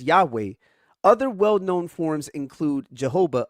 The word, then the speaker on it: Yahweh: Scholars typically reconstruct its pronunciation as Yahweh.